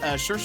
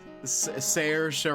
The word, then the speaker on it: Saoirse: My Saoirse Ronan. When she says it, there's like an SH sound. I promise. I promise there's like an SH sound at the beginning.